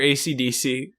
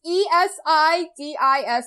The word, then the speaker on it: Esidisi: ACDC, the character. Yep. It's... I just pronounce it ECDC because it's E. Is it ECDC? I kept calling it ACDC. It's ESIDISI. I kept hearing it as...